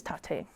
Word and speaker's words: Taté: My name is Tate, and there's an accent on the E.